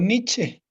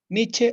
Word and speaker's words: Nietzsche: yo lo de mi Cómo se pronuncia o nietche también nietzsche o niet como guste para nosotros para el lenguaje Castellano es permitido Perdón para el lenguaje Castellano es permitido pronunciarlo como nosotros podemos pronunciarlo como es en castellano por ejemplo sería niet o o n como guste que n sostenía que